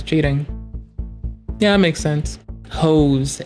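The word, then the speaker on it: Haux: Hose. H A U X. We're going to pronounce that hose.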